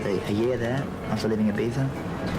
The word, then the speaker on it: Ibiza: Ibiza. It was spelled I-B-I-Z-A, and they pronounced the I-Z as T-H, so it was like Ibiza.